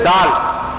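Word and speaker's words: ذال: பாத்துக்கங்க அப்பறம் இந்த இது தால் தால் மேல புள்ளி இருக்கும். ால் ால் நாக்க வெளிய கொண்டு வரணும். இந்த லெட்டருக்கும் இதுக்கும் இதுக்கும் நாக்க வெளியே கொண்டு வரணும். நாக்க வெளிய கொண்டு வந்தாதான் இதோட உச்சரிப்பு வரும்.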